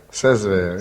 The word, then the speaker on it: Saint-Sever: Comment prononcez-vous Saint-Sever? Saint-Sever.